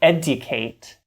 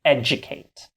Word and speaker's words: educate: In a word like educate, you don't pronounce a d unless you're really posh like the Queen of England and say educate. We say educate.